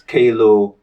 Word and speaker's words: Kaelo: it easier for colleagues I always say it's Klo it's like JLo but with a K so okay wouldn't have